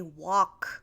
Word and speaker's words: walk: common for people to say walk without pronouncing the L okay I'm seeing a